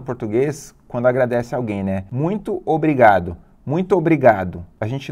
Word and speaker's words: muito: isso a palavra muito se escreve assim ó muito não tem ele mas a gente fala uns onde aparece um som de n muito Já pensou nisso